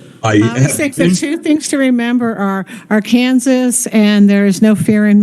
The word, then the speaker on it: Arkansas: Kansas it may be spelled Arkansas but we pronounce it our Kansas no you're you're fine we just did want